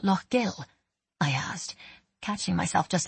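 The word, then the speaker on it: Lough Gill: Is the lake called Lo Gill? I asked, catching myself just in time and pronouncing it correctly.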